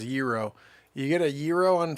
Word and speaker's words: gyro: saying you get it it's actually pronounced euro you get a gyro